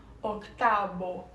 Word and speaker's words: octavo: Lembrando sempre que se escreve octavo, mas a gente pronuncia octavo, porque a letra V, tem sonido de la letra B, certo? Ou seja, o V tem o som da letra B.